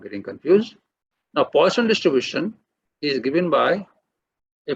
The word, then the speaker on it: Poisson: So in my class, nobody should call it as a Poisson. It is not Poisson. It is named after a French mathematician. So it should be pronounced as Poisson.